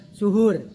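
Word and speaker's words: سُحور: Ada juga yang membacanya sahur dan ada juga yang membacanya suhur. Ini dimaknanya berbeda. Kalau sahur itu makanan yang digunakan untuk sahur, tapi kalau suhur maka adalah pekerjaan dia.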